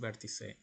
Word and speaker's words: Vertice: Okay, so I will go now to the Vertice website. It's pronounced Vertice in Spanish, so we will go there.